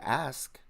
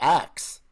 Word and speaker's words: ask: Hey, bro, just tell your people to pronounce the word ask, not like axe.